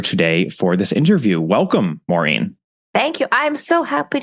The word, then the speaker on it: Maureen: my name my yeah my grandfather always called me marine marine and I had many